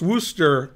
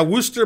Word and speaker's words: Worcester: Worcestershire is pronounced Worcestershire there's a city in Massachusetts that I think is pronounced Wooster but it's spelled like that or something something like